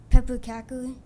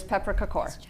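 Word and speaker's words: pepparkakor: Is it Is it pronounced Is it like pepper cackle? Very good. Very good. It is pepper cakor.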